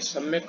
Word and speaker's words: Psalm: तो ये part सम of life, P silent है इसमें और एल भी साइलेंट है, तो सम ऑफ लाइफ अर्थात जीवन का भजन, और H.W.